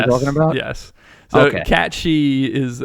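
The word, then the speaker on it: Cait Sith: Catchy is how it's pronounced. Everyone and their mother called her Kate Sith, and the original called them Kate Sith.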